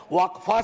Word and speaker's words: Waqf: इसका इस्तेमाल हो और अलग-अलग लोग इसका प्रोनन्सिएशन अलग करते हैं। कोई वफ बोलता है, कोई वकफ बोलता है।